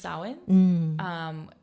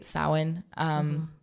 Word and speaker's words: Samhain: But I think it's just Samhain.